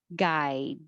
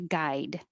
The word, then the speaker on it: guide: And 39, guide. I usually wouldn't pronounce the D unless I wanted to really make it clear. I need a guide, guide.